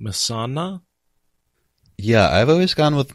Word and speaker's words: Mesaana: - back to Misano which we are saying Mehsana yeah I've always gone with Mehsana and because I know in the audio books there's a little while where kate says meza onna she adds an extra a in there because